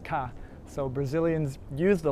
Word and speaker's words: K: say kkk they say in brazilian portuguese the letter k is pronounced ka so brazilians use the